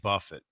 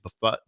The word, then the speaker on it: Buffett: Jimmy Buffett. Am I saying that right? Buffet. Buffet. Buffet. Buffet. Not Jimmy Buffet. Jimmy Buffet. Come on. Buffett.